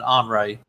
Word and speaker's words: Henri: Every time I see it, I want to say Henry, but they're pronouncing it Henri.